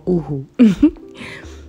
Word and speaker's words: UHU: I don't know whether it's pronounced uhu or uhu, but it's uhu.